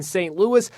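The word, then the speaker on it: St. Louis: at biermann's bar in St Louis St Louis if you add an e it's Saint Louise so it's not St Louis St Louis and in America we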